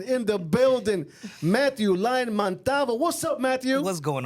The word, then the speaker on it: Montalvo: It's like Montalvo. It's Montalvo. You say it like very, very jíbaro. It's a jíbaro thing.